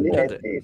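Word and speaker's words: Linetty: su questo sito e Se mettete Carol Linetti sentirete questa pronuncia che Carol linet è e E allora Pepino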